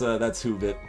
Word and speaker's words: Woovit: Oh, I don't know if anyone linked it in chat or anything, Keppa, but it's WOOVIT is how, yeah, it's spelled weird, but that's Hoovit.